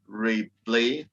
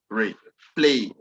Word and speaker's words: replay: then you know that this bisyllabic word is going to have the stress on the second syllable. Example is replay, replay.